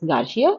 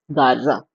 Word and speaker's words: Garza: And he says she says Garcia. He says actually it is Garza.